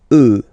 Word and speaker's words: œufs: Then, un œuf, des œufs. Okay, and we'll make the liaison here to make it sound more beautiful. Des œufs, all right?